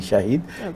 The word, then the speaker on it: শাহিদ: চিনি এখানে একটা মানে যেহেতু এসএইচ আমার বেসিক্যালি প্রোনাউন্স এভাবে হবে মোহাম্মদ শাহিদ হাসান এসএইচ এ শাহ এইচ আইডি শাহিদ কিন্তু যেহেতু আমরা সবাই স মনে করি তো সে জায়গায় অলরাইট কিন্তু ইনফ্যাক্ট ইনফ্যাক্ট আমার প্রনাউন্স হবে শাহিদ হাসান মোহাম্মদ যেমন জাহিদ